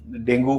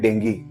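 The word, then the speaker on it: dengue: और इसका जो असल प्रोनाउंसिएशन है वो है डेंगी। हाँ, अंग्रेजी में इसको डेंगी बोलते हैं, मगर ये है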